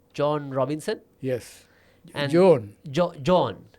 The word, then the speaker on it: Joan: And Joan. John. How do you pronounce it? John. She's a woman. She's a woman. Joan. Not John.